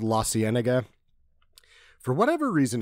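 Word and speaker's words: La Cienega: it how it's spelled lasena for whatever reason if you're from La it sounds like lasanda and I'm the only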